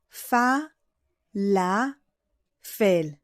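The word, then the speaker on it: פלאפל: So here's the whole word together. Fa, la, fel. Actually, there is another letter in the middle. It's a silent letter.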